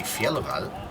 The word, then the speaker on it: Fjelrad: Amusingly, I couldn't pronounce it in Danish, which is actually Fjelrad.